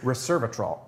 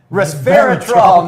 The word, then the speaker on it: resveratrol: this is and he's waiting for me to pronounce the name it is the 100 percent pure reservatrol did i get it right resveratrol no i did not get it right so